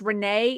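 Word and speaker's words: Rainee: Her name is Renee, although it's spelled like rain, but it's Renee in Chitty.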